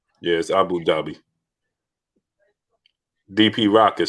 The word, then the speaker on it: Abu Dhabi: uh what what was it how do you pronounce it aina's um dubai yeah but it's abu ghabi or something like that abu babu something i